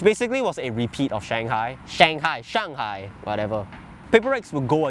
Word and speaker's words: Shanghai: Oh yeah, by the way, Gen.G won Masters Shanghai, not Shanghai, bro. Why do I keep pronouncing like a foreigner? Shanghai.